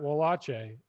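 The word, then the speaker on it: Wallace: i like this harry said it it's matt walache uh from england he's a very good uh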